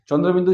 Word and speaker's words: চন্দ্রবিন্দু: সঠিক ক্লিয়ার হয় না চন্দ্রবিন্দু চাঁদ চন্দ্র তো দেওয়াই আছে আর বিন্দু আছে আবার চাঁদ কি চন্দ্রেরই তো সমার্থক শব্দ হচ্ছে চাঁদ তাহলে চন্দ্রবিন্দু চাঁদ কি করে হবে। তাহলে এটার সঠিক উচ্চারণ হলো চন্দ্র বিন্দু।